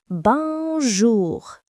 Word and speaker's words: bonjour: You'll hear bonjour, pronounced bonjour.